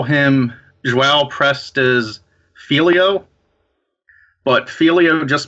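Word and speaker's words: João: You said it in the podcast. It's Joao. Yeah.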